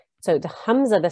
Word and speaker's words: Hamza: It is pronounced, the letter originates from the bottom of the throat near the chest. There should be no trace of the Ayn sound in its pronunciation. So the Hamza, the sound of the